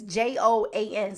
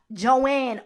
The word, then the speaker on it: Joan: So it's Joan. So I was calling her Joanne all these years, but it's Joan.